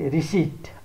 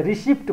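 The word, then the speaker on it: receipt: अर्को एउटा शब्द छ आरसीआईपीटी रिसिट आरसीआईपीटी रिसिट यसलाई रिसिप्ट भन्ने गरिन्छ तर रिसिट आरसीआईपीटी रिसिट यसमा पी साइलेंट रहेको छ अब पी साइलेंट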